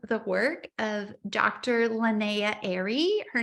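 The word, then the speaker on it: Ehri: he's going off the work of Dr Linnea Airy her name is spelled e h r i Dr Linnea Airy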